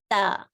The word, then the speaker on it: ت: Remember, the tongue is not showing here, so the tongue is inside. So it's ta alif, ta alif.